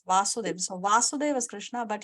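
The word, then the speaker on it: Vāsudev: Okay, so Yes, if there is a line on top of A, then we pronounce it as Vasudev.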